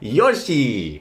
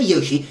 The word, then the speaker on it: Yoshi: saying Yoshi yes I've heard some people say Yoshi it's Yoshi what's that it's not Yoshi it's Yoshi look if we hear